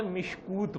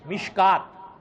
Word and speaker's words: مشکات: بدھ نہ ہو تو مشکات شریف کا تلفظ یا لفظ ایسا لکھا ہوا ہے کہ آدمی اس کو مشکات پڑھنے کے بجائے مشکوت پڑھے. کیا پڑھے؟ حالانکہ اس کا صحیح تلفظ کیا ہے؟ مشکات.